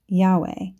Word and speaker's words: Yahweh: is capital letters j-h-v-h Hebrew was originally written without vowel sounds and this name was probably pronounced Yahweh from which we get